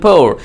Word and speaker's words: pour: এই যে ঢেলে দেয়া বা ঢালা, এই ঢালা ইংরেজি বলবেন পোর, POUR।